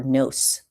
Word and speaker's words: gno: Both contain the root nos or nose. So, that G is silent, which means knowledge.